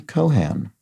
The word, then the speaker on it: Cohan: h as you did it's actually pronounced with an aspirated H and an and rhyming with can so Lauren Cohan um so there we go apologies to Ms Cohan and that is how